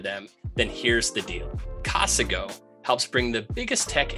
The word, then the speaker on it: Casago: brought to you by cosica you mean casago no I meant casago that's not how you say it you gotta get